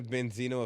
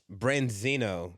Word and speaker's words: branzino: that right it's a prescription isn't a Benzino a fish dish it does it it doesn't say all of them just say the rapper oh my gosh it also says gasoline how do you spell that b-e-n-c-i-n-o oh it's branzino branzino the fish dish so he's literally in